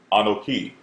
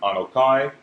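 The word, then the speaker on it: אָנֹכִי: Or as they pronounce it, according to the vowel points, anoki, all right? Some may pronounce it anakia, all right? But we pronounce it anokai, which means I, okay?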